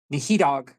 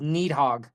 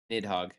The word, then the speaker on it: Nidhogg: Eye of Nihidog, if I'm pronouncing that right. Correct me if I'm wrong on that, Chief, from Final Fantasy. That comes back. Who? Sorry. It is Eye of Needhog. Nidhogg.